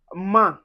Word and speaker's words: main: We also have A I N or A I M, and we'll pronounce this as un. This is where you get to say main.